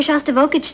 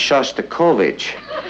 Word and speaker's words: Shostakovich: He's taking me to hear Shostakovich tonight. Honey, I think that's pronounced Shostakovich.